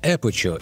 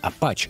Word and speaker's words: Aputure: Компания Aperture, или как правильно говорить, Apache, анонсировала комплект из 8 светодиодных ламп Aperture Ascent B7C в специальном кейсе, который служит одновременно и зарядным устройством.